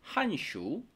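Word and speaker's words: 函数: 그리고 함수를 그 중국어 발음으로 읽으면 한슈 이렇게 되거든요.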